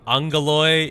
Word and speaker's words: Angeloi: So the Angeloi, and I know this is Aggeloi. Apparently, Angeloi is how you say it because it's something in Greek.